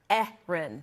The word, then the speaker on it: Erin: worry you're not alone but what we agree on is that both names are pronounced with two syllables with a stress on the first one the second syllable isn't